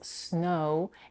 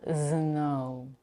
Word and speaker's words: snow: a Brazilian Portuguese speaker make sure not to voice the first phoning s it's a voiceless consonant so the word is snow and not zow the O is also